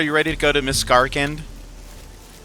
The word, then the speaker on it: Miscarcand: ready to go to miss garend I've been mispronouncing it this whole time I've been calling it Mis Garand kind of like how